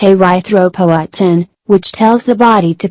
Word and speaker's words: erythropoietin: produce a hormone called erythropoietin pronounced a writhe ropo attend which tells the body